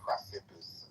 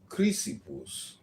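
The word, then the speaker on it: Chrysippus: Cleanth really go from Zeno to Cipus I think really had it kind of figured out and then uh later the uh it's pronounced Cryipus.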